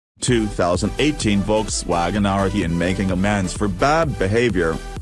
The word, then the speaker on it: Arteon: Phonetically, Volkswagen's new flagship is Arteon. Philosophically, it's arty plus three letters tagging along for the ride. Think of it as the arty one and you'll mispronounce it but nail the idea.